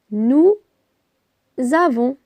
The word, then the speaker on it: avons: v o n s nous avons ici on entend la liaison les enfants avec le